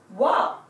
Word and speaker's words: は: come across this character the pronunciation for this was was ha but all through the example sentences when I was reading it I read this as wah wah is the equivalent hiragana character for wah it is this so